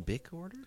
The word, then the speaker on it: Bikorder: It's like Bic Order, but Bic Order, but Yeah. tricorder and bicorder. so it's like bicorder, tricorder.